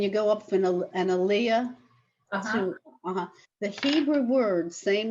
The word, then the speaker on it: aliyah: So it generally the Hebrew pronunciation, and the pronunciation is on the last syllable.